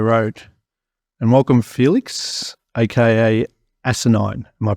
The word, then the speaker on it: Asinine: welcome to Hardware Road and welcome Felix AKA asinine am I pronouncing that correctly yep that's perfect all right